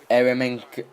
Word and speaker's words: Eremenko: And you can see here, an early yellow card is going to be dished out for Eremenko. Yeah, Eremenko, that's how you pronounce that.